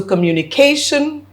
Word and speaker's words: communication: So the word communication requires me to take the a up because the shun at the at the end requires any word that ends with a shun to have the syllable before that lifted up.